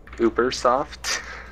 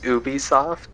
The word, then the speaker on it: Ubisoft: uoft it's not what Uber soft Uber soft you mean Ubisoft Ubisoft depending on how you want to pronounce it yeah is it yes